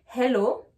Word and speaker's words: hello: Pour rappel, la lettre H n'est pas une lettre muette en anglais. Donc, il faut la prononcer.